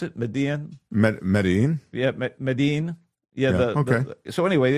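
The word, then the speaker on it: Medellín: Is that how you pronounce it? Medellin? Medellin? Yeah, Medellin.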